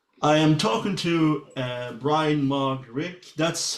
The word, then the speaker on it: Bryan Mark Rigg: I am talking to Bryan Mark Rigg. That's how I pronounce the name.